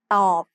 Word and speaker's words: ตอบ: ตอบ follows the same tone rule we just learned. Middle class consonants with a dead syllable form a low tone.